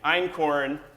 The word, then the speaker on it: einkorn: wheats essentially is this it's called einkorn and it's spelled e-i-n-k-o-r-n and i'm corn is the very first thing this is domesticated